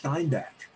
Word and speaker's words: Steinbeck: are american and english steinbeck of course i'm germanizing his name because it's just habit because that's what because we actually did pronounce that uh with the german steinbeck over in poland yeah